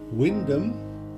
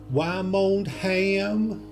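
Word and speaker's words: Wymondham: well-known Agricultural College in Windham and please note our transatlantic cousins this is pronounced Wyndham and not why I'm Oldham now you know whilst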